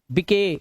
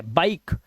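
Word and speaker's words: bike: अब इसे गिवे नहीं पढ़ने, गिवे, गिव, मके नहीं, मेक, बिके गलत है, बाइक। इसे राइस या रिसे नहीं पढ़ना है, क्योंकि लास्ट का ई साइलेंट है।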